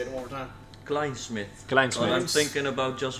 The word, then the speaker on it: Klijnsmit: saying right now let me make sure I'm pronouncing this right cment Klein Smith Klein say it one more time Klein Smith kith I'm thinking about just using The Branding